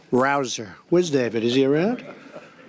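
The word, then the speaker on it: Rouzer: job David Rosa hey you know how you pronounce it rabble rouser you go David rouser where's David is he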